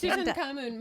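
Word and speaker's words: Tutankhamun: is short for tutan thank you I couldn't pronounce it so I short for did you actually yeah it's tutan cun my uh yeah my dad did like his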